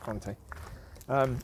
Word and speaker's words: Conte: Certainly Conte, I think his name is Conte, it's pronounced Conte.